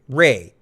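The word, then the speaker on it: Rhea: Is it Reese Seahhorn or Ray? Ray, right? Ray Seahhorn. It's It's pronounced Ray, but it looks like Rhe E.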